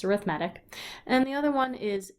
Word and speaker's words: arithmetic: Some people say arithmetic, but it's not spelled the same, so it's arithmetic.